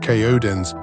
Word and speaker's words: KODAENCE: KODC, pronounced Kodens, is officially launching a global movement built on a singular powerful concept, the coded rhythm.